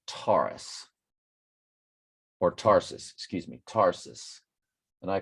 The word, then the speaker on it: Tarsus: Or Tarsus, excuse me, Tarsus. And I called it SARS. I thought the T was silent, like tsunami, but yeah.